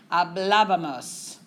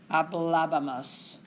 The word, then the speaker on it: hablábamos: Which is why when we get to nosotros, we have to have that accent mark. It would never come out correctly. It's too many syllables. Hablábamos. Okay? So you have that emphasis on that first A. That's where we want our accent mark.